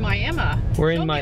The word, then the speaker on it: Miami: to do oh gosh um we are in Miami sign show them that awesome old Arby sign